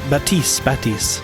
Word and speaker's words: Baptiste: some PTR Pugs with Baptiste, or Baptiste. The P is silent.